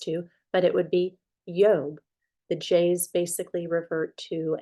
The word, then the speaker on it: Job: that we're used to but it would be yob the J's basically revert to A A Y